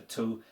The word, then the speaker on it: tu: So, the word for here in Polish is tu. Very sharp and to the point, so it should be easy to remember.